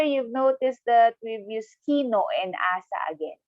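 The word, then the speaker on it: きのう: You have to pronounce no of kino a little bit longer because there's another vowel attached to no.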